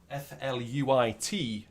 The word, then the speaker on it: fluit: Maybe anyone who can speak Dutch better than I can, F-L-U-I-T, fluit. I think that's how you pronounce it.